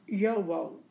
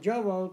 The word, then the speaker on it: JoWo: Send me the Jowo nib is pronounced Yowo, Y-O-W-O. Okay, and the reason why I call it Jowo because I was told Jowo, so now it's Yowo. So we'll call it Yowo.